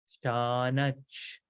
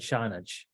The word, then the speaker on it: Śānac: Śatṛ Śānac, Śānac. Okay, Śatṛ and Śānac. You can make it nasalized, but that nasal goes away, so that's why I'm not really pronouncing it so much.